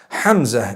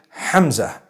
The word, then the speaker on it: Hamza: Hamza is the proper pronunciation. Hamza. It starts with a ha, it has a mim, zai, and it has a ta marbuta at the end. So Hamza.